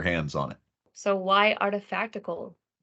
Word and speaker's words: Artifactical: So why Artifactical? Why artifactical? Because it rhymes with practical.